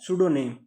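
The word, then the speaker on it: pseudonym: उपनाम की एंट्री है जिसको बोलते हैं सूडो नेम। ठीक है? सूडोनिम की स्पेलिंग पी से स्टार्ट होती है और कुछ लोग इसे सूडोनिम भी बोलते हैं।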